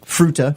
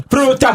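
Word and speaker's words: Fruita: I think I'm pronouncing that right. It's the word fruit with an a on the end. Fa Fruta. Fruta, Colorado. Fruta.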